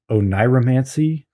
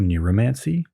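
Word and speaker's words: oneiromancy: how to pronounce this is it ohniromancy or neromancy o n e i r i've always said it ownieromancy oh nier romancy but i now realize that that doesn't make any sense because i've only ever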